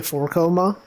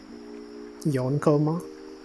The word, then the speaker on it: yonkoma: It's like how people say four-koma. But then when you think about it, it's like yonkoma.